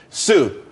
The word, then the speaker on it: Tsu: there's more money and everyone could be happy Sue TSU is pronounced Su though that's that's a website.